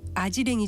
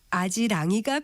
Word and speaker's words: 아지랑이: 것을 두고 말할 때 아지랑이와 아지랭이 중에서 맞는 표현은 어느 것일까요이 경우에는 아지랑이가 표준고시 아이는 비 표준어로 되 있습니다 우리말 표준어 규정을 보면 아지랭이 이모 역행동화 현상에 의한 발음은 원칙적으로 표준 발음으로 인정하지 않는다는 규정이 있습니다 그렇다면 경험이 없어서 일에